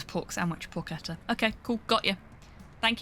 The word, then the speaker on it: porchetta: Hard C. I don't know how to do a hard C.